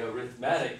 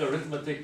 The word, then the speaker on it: arithmetic: Okay, so the first sequence that we learned in Algebra 2 was the arithmetic sequence. Now, it looks like arithmetic, but it's pronounced arithmetic.